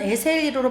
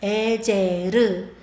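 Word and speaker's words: עזר: 에셀은 우리나라 말로는 에셀리로 발음하지만 이스라엘 말로는 에제르. 에제르라고 말을 하는데이 에제르는 돕다.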